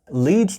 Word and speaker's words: lead: इसे हम बोलते हैं लेड।